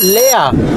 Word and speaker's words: leer: Lea. Se escribe leer, pero se dice lea.